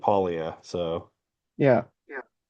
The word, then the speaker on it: paglia: It's like, you know, the beginning is like catchuri and then silent G at the end. Polia.